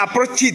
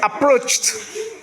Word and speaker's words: approached: Donc malgré le d là on va pas dire approched c'est pas possible. Approch approched. Approch vous suivez ? Non c'est approached.